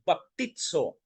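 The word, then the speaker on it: βαπτίζω: Greek word po ng baptism ay baptisma and baptizo. Yun po yung pronunciation mga kapatid.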